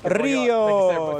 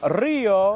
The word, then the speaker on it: Rio: Rio. If you can roll your R's, it goes Rio. If you can, it's Rio.